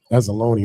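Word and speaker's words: Anzalone: Azzalone, my bad.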